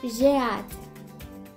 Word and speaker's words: j'ai hâte: It's j'ai hâte.